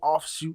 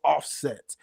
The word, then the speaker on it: Offset: Stop mispronouncing names and calling people offshoot instead of offset. It's offset. Offset. Offshoot. Not offshoot.